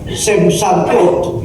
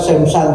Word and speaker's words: Samsung: Oh, saya kira Samsung, ternyata Samsung, seperti baca lagu itu song.